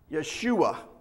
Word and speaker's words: Yeshua: language we say Joshua in the actual Hebrew it'd be Yeshua they don't use a J sound so it would be